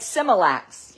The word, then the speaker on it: smilax: yeah no it's X it's like similacs like the formulas and it is a